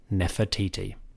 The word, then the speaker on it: Nefertiti: In Egyptian, this name is Nofret Iti. We pronounce it Nefertiti.